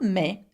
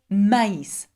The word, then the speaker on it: maïs: Now, I pronounce this word not me, but maïs. Why? Because there is a tréma on top of the I, and therefore I must separate it from the A and not pronounce the AI together.